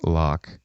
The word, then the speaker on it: Wloch: say it wrong so I believe it's pronounced Loch correct and in sport spelled